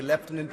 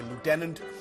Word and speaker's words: lieutenant: Lieutenant Colonel Tulsi gabard we say leftenant Americans say Lieutenant a 21-year military veteran